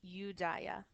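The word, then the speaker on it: Iudaea: fall of rome so when we're speaking in latin we pronounce this udaya when we're you when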